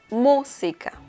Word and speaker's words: música: we can see that this word has an accent mark and it is on the letter U so the pronunciation is música musica okay the next